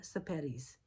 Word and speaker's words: Sepetys: This week I'm going to review Salt to the Sea by Ruda Sapetis. It rhymes with Spaghetti. Uh I had to look that up, too.